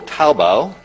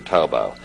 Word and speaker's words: Taobao: There's also Taobao. Did I get it right? Did I pronounce it correctly?